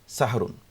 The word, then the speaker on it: সাহরি: আরবি এবং সেখান থেকে সাহরুন। বাংলা ভাষায় আমরা সেহরি বলে থাকি। যদিও মূল শুভ উচ্চারণ হলো সাহরি অথবা সুহর। কিন্তু বাংলা ভাষায় প্রচলিত যে সেহরি আমরা বলে থাকি এটাতে আসলে বিধানগত কোন সমস্যা নেই।